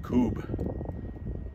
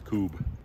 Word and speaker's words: Kubb: cool yard game called kube it's spelled k-u-b-b but uh i guess the pronunciation in scandinavia is kube it's made up of